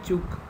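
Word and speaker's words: Ćuk: of his name so you have to pronounce it as only chook then comes isolated we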